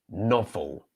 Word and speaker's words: novel: And the second word is novel, novel, novel. So the first word, noble, the O is pronounced O.